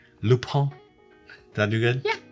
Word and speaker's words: Lupin: loop pump all right so it's spelled l-u-p-i-n the netflix show it's on netflix so go to netflix check out l-u-p-i-n lupine loophole did i do good